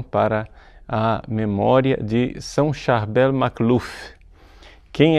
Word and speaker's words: Charbel: Mas é mais conhecido mesmo com o nome de Charbel, com a pronúncia francesa, que ficou um pouco vulgarizada no mundo inteiro.